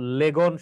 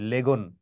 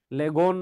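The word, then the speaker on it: lagoon: তারপরে দেখো লেগন সম্পর্কে জানতে হবে। লেগন লেগন না লেগুন হবে এটি লেগুন উচ্চারণটা হবে তারপরে রদ লেক সম্পর্কে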